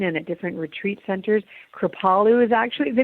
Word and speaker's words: Kripalu: I'm glad you pronounced it right. Say it again. What's the energy Kripalu. center? Kripalu.